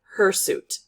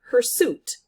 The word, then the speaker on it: hirsute: i found out that in america we pronounce it hirsute and in britain they pronounce it her suit and that makes perfect